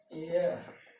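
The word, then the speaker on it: heir: लेकिन यहाँ लिख दें honest man, एम ए एन, यहाँ लिख दिए ऑनरेबल गर्ल, यहाँ लिख दिए एयर, यहाँ लिख दिए एयरेस। अब देखिए ये सब का उच्चारण वॉवेल साउंड के तरह है, इसलिए क्या होगा एन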